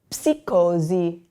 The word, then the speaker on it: psicosi: This next one here, we have the PS, which you're going to pronounce the P. So you would say psicosi, psicosi.